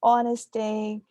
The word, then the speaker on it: honesty: So the H, silent H's, that's one common pronunciation error. honorable, honesty, and then hormones.